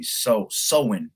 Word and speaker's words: Samhain: Sowin, yeah, sowin.